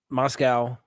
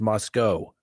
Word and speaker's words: Moscow: Some people say, no, it's Moscow. I guess no W. The W is silent. I don't know. It looks like Moscow, C-O-W, Moscow.